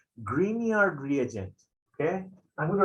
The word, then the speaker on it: Grignard: these guys are called grignard reagent okay i'm going to write it down in green color because it sounds like green okay g-r-i-g the second g is silent we didn't know that